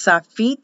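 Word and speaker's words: Sofit: They will pronounce Safit, and it's spelled S-O-F-I-T, but pronounced as an E.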